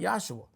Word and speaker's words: Yahshua: I want to say it right, Yahshua, because that was the proper pronunciation of his name.